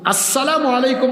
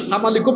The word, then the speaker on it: আসসালামু আলাইকুম: করলাম ওয়ালাইকুমুসসালাম ওরাহমাতুল্লাহি ওয়াবারাকাতুহু কেন অনেকে অশুদ্ধ সালাম দেয় সালামু আসসালামু আলাইকুম মানে আপনার উপর শান্তি বর্ষিত হোক আর সামাকুম মানে তুই মরে যা তাইলে অশুদ্ধ উচ্চারণে সালাম